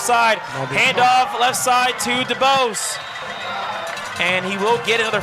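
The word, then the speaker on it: Debouse: For those who don't know, it's spelled D-E-B-O-U-S-E. So, of course, your initial thought is Dubose, but Dubose, as we've been informed.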